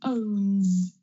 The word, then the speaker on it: owns: Another example is owns. Own, there's vibration. Owns. owns.